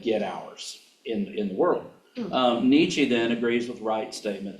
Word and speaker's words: Nietzsche: By the way, Nietzsche, if you want to impress people, you know, Nietzsche. You were wondering how to pronounce that.